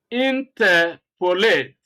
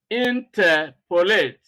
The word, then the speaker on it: interpolate: said three tickets you know stress is on syllable number two the second example interpolate interpolate you humiliate humiliate congratulate congratulate communicate communicate now